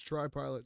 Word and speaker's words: TriPilot: But it's pronounced tree, but it's TriPilot, so it's TRI Pilot X.